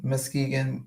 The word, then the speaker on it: Muskegon: Muskegon, am I saying that wrong? I feel like I'm saying that Muskegon. No, that's how you say it.